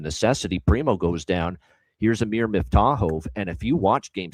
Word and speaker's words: Amir Miftakhov: So, I made sure I looked it up for uh Amir Miftakhov. And that's how you pronounce it for this kid.